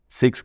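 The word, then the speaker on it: Zeex: nada síguenos en tiktok como six Group se escribe Z doble e x Group de grupo qué más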